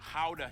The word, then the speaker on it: Gouda: the pride and joy of the nation, Gouda cheese. Yep, that's how you pronounce it, guys.